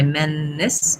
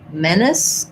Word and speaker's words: menace: So I'm going to think about my length being here, and then my menace is just going to be a short little I sound or even a schwa sound, with CE saying that the S sound in this word. So menace, or you can think about menace. It doesn't really matter which reduced vowel I'm using here.